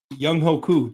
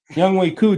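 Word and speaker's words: Younghoe Koo: Like, we've seen when kickers No, Young Hoku just lost. Young Hu, my bad. Sorry. I'll say it. I'll say it properly. Young Way Coup just got cut as well cuz he was missing kicks.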